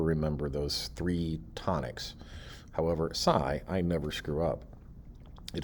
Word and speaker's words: psi: i can never remember those three tonics however psy i never screw up it is pronounced psy and it's a greek letter it